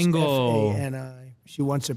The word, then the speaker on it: Fani: The same DA, Fannie Willis. Right, Fannie Willis. She treated you very unfairly. She goes by the name Oh, of it's Fani. Trump even though it's bingo. F-A-N-I.